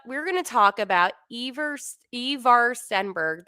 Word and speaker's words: Ivar: But we're going to talk about Ivar Stenberg. That's how you correctly pronounce it. People pronounce it so many ways, but Ivar is how uh, he actually does pronounce it.